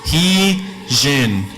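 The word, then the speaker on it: ϩⲓϫⲉⲛ: So this is going to be pronounced as an H. And then this one looks like an I, pronounced like an I. This one, we said looks like a script J, right? Looks like it, pronounced like it. So this is an E, this is an N. So you put those together, it's he, jen.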